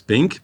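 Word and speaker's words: PINQ²: Bon euh Pink qu'on on prononce Pink, plateforme en innovation numérique et quantique.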